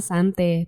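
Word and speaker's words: Xanthe: Ethan pun langsung mematikan televisinya nih dan tak berapa lama si istrinya datang nih yang bernama Sante. Tulisannya sih pakai X tapi ya udahlah bacanya Sante aja gitu ya.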